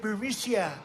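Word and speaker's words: Burisma: know bureau missile burmesia they say pronounce it bermisia a real beautiful company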